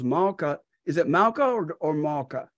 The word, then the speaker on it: Malka: Is it Malka or Malka? How do you pronounce it?